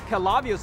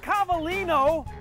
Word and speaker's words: Cavallino: state-of-the-art technology calavios experts it's pronounced cavallino action any place that would put live customer feedback on their website has to be good that's why i came to clovios it's cavalino cabalino collision center palo alto tough